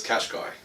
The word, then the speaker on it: Qashqai: you pronounce it well we pronounce it as cash guy well we've heard of this couch key but in Purina we'll